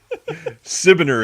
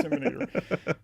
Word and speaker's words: Sibiner: Disseminator, right? Is that right? Sibiner, exactly how it's spelled. Sibiner. Okay, Sibiner. I always want to say Seminator.